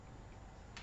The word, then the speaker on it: Olomouc: (Olomuc in German is pronounced Olmütz, but perhaps it is better to say Olomuc).